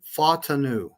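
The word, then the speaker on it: Fautanu: He actually pronounced Troy's last name in the chat. It's Fatanu, the offensive tackle that kept dropping to us.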